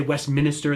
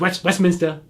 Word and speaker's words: Westminster: in westminster um and some of you might want to say westminster that's not how you say it's westminster right with the boston accent the 1761 old mill